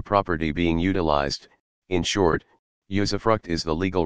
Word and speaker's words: usufruct: Usufruct, pronounced usufruct, was an aspect of ancient Roman law.